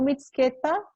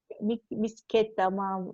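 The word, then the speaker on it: მცხეთა: Então, Mitsketa, nem assim se pronuncia totalmente perfeito, porque eu também não sei, mas vamos ler tal como escreve, para facilitar a nossa vida, né? Misqueta, enfim, só a Nino mesmo sabe falar.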